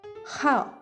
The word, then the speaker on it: 号: 日 Even though it's written as 日 we pronounce it of the month as how.